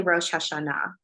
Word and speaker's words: Rosh Hashanah: So Rosh Hashanah, how do you pronounce that again? You can say Rosh Hashanah.